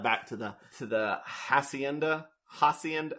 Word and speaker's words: hacienda: to the to the hacienda hacienda how do you pronounce spanish for us thank you acienda jason statham's language school